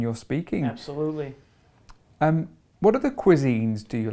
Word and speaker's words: cuisine: Cuisine. Cuisine.